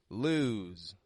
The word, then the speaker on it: lose: lose your mind lose it's not quick like lose l L but it's lose it stretches out in the vowel sound and then it voices that S as a z whereas loose loose is very quick in the vowel and it goes straight into an S loose now this gets